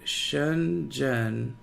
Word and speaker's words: Shenzhen: let me just say let me just give you a little shortcut say shen jen you know like you're talking to your best friend Jen Mayo sunshine gin gin